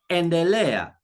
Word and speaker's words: endelea: E, as in end. End. A good example is in the Swahili word endelea.